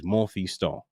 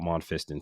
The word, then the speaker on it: Monfiston: So my last name, by the purest way of saying it, the right way to say it in Creole, French way of saying it is Monfiston. But Americanized way of saying it is called Monfiston.